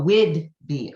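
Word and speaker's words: Whidbey: I think it's Wood and BY, but it's pronounced B. Let me type it in because I can't find it. Oh, B-E. Oh, Wid B.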